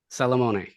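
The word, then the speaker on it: Salamone: to you that's when I found um Francisco Salamon I pronounce that right that's correct yeah and uh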